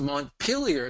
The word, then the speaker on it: Montpellier: In essence, the Montpellier school, I'm using the English rather than the French pronunciation.